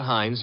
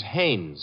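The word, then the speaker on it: Haines: No, no, no, not Hines. Hannes. Couldn't be. Honeyberg. No, it couldn't be. The name is Hannes.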